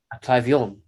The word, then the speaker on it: Atravion: Well, when Estelle pronounced it the other day, Atravion, It worked.